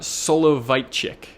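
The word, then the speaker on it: Soloveitchik: It's actually an idea from a rabbi uh Solo Vitechic. It I hope I'm pronouncing that correctly.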